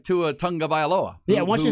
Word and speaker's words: Tagovailoa: When Tua says, "Here's how you pronounce my last name," it's a tongue. It's like tongue. Yeah, Tagovailoa.